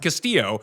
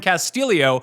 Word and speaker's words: Castillo: It's an extra letter that doesn't actually exist. His last name is spelled Castillo like every other person in the world that you've seen Castillo, but they're calling him Castillio and then adding an